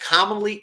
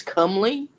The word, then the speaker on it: comely: the king's inner circle known as the most commonly commonly woman in the seven kingdoms renee what does commonly mean how's it spelled c is spelled uh c-o-m-e-l-y i think it's comely comely and that pronounced company is you know